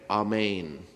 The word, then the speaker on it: amen: know what it is it sounds like this in Aramaic amain is the proper pronunciation of amen and it means I